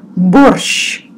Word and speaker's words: борщ: Borscht, borscht. This was a word from our key sentence. Borscht, borscht. Sh, you pronounce like soft sh.